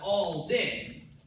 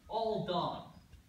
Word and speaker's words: Alden: So you know my name is Alden, that's Alden. But some people, they mispronounce it, Aldon.